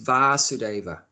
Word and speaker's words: Vasudev: of vasudev sorry yeah vasude a short a vasudev so one of krishna's names is vasudeva father's name is vasudev short a and his name is varsityva the son of vasudeva like that so Krishna